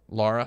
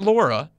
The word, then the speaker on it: Lara: Brian Lehrer cricket Lara Lara Lara Lara not Laura have you ever heard somebody pronounce the name Lara Croft is Laura Croft yeah I hate that yeah it's annoying watch the movie it's not Laura also the word yeah